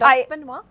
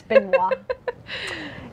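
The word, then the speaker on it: Benoit: uh oh man Rand benoa yes and I feel bad because I totally mispronounced it during the last show I called him Beno but it's benino can we unlock Emperor's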